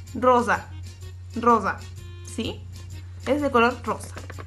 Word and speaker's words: rosa: En italiano, cuando la consonante, la S, está así solita, es como si patinara. Rosa, rosa.